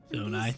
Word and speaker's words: Zonai: Zonai, that's how you pronounce it.